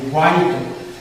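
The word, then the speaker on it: white: यहाँ पे देखिए एच साइलेंट है, इसे हम लोग वाइट पढ़ेंगे, वाइट, वाइट नहीं पढ़ेंगे, वाइट पढ़ेंगे। यहाँ पे जो है विस्पर,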